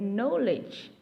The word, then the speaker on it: knowledge: at all for example in the word knowledge though the alphabet k